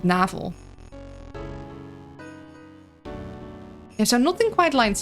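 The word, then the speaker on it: navel: Yeah, in Dutch you'd pronounce it navl.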